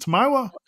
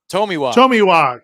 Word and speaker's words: Tomiwa: How do you say Is it Tamiwa? Tomiwa. God, yeah. I always get that wrong.